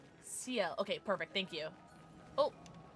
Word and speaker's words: Ciel: Ciel? Ciel.